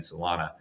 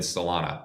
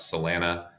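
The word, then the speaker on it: Solana: It's a hop to get to Ethereum and Salana, which Tradfi will pronounce Salena or whatever.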